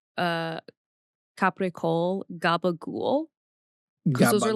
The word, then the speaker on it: capicola: Gabagool is not real. What they're saying is capicola, which is a sliced deli meat.